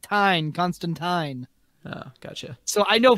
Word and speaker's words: Constantine: that it's print out it's constantine rhymes with time or whatever and then